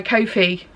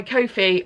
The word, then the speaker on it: Ko-fi: that I will be putting up on my Ko-fi. I said it right, yes, on my Ko-fi at the end of the month.